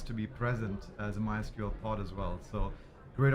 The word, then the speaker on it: MySQL: and today we have MySQL from Oracle, that's the right way to say it.